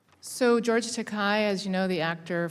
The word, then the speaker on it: Takei: Here's George Takei, it rhymes with decay, a book in which um he talks about, you know, one young man lusting after another.